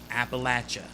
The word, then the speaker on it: Appalachia: 20th century labor disputes in appalachia that's it appalachia all right here anybody say appalachia for the appalachians it's not it's appalachians all